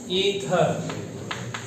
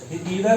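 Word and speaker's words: ether: इसका क्या functional group है, मतलब अल्कोहल, और इसका क्या है, ईथर। ईथर नहीं है, ये है ईथर, है ना, क्योंकि नाम पहले नहीं सुना है लेकिन इसको प्रोनाउंस करना सीख लीजिए, ईथर, राइट।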